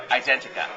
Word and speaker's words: Identica: software so they go to identity.ca can you spell it out please yeah it's i-t-e-n-t-i-c-a identica okay and usually people who might interview sometimes